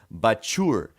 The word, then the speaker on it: Bachour: And that's perfect because our guest this week is Antonio Bachour. I'm sorry. I'm gonna do that again. Our guest this week is Antonio Bachour because his name is pronounced like a sneeze.